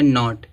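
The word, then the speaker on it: knot: हो जाएगा साइलेंट देखो यहां दिया नॉट तो यहां देखो एन है इस एन से पहले के आया है जब के आया तो क्या हो जाए के साइलेंट नॉट माने गांठ होता है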